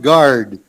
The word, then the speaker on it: guard: and then this word guard guard up here uh at the beginning so the u is silent this guard be on